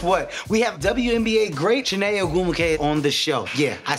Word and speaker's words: Chiney Ogwumike: We have WNBA great Chiney Ogwumike on the show.